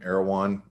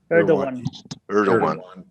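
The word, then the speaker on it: Erdoğan: Erdogan. Erdogan.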